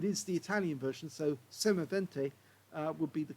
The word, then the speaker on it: Semovente: m43 but it is the Italian version so semavente uh would be the correct um uh pronunciation uh you can see it's got a